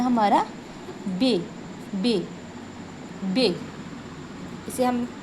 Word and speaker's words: बे: उर्दू में हम इसका उच्चारण करेंगे बे और हिंदी में इसका उच्चारण होगा ब।